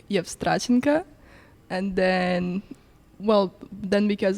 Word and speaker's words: Evstratenko: So it's originally from Belarus, and you say Evstratenko. And then because like I lived in Israel too, people would say Evstratenko.